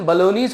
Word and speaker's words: bolognese: This, अब इसका pronunciation बलोनीज होता है, उसका बलोनी होता है, देश है वो, ठीक है.